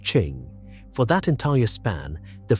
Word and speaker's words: Qing: The name is pronounced Ching.